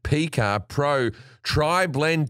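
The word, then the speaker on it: PYCA: signature battery soft p y c a that's pronounced p car pro tri blend t it's a bold new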